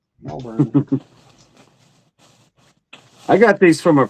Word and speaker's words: Melbourne: It's not Melbourne. It's Melbourne. Melbourne.